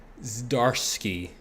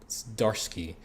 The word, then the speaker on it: Zdarsky: Zdarsky. I think the Z is silent. Zdarsky, who wrote Daredevil, which